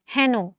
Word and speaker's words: হেন: এ, balloon এ, কিন্তু আমরা কিন্তু হেন বলি না, আমরা কি বলি? হেন। আমরা বলি না যে হেন কাজ তুমি কিভাবে করিলে, হেন, হ্যাঁ নো, তাহলে এর মতো উচ্চারণ হচ্ছে বিধায় আমরা এটাকে এ ধ্বনির বিবৃত উচ্চারণ বলবো।